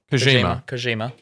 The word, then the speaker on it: Kojima: Kojima. Japanese with a soft J. That's interesting. Usually that's Spanish pronunciation.